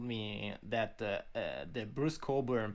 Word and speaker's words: Cockburn: days ago told me that uh the bruce coburn pronunciation of your name is a scottish and there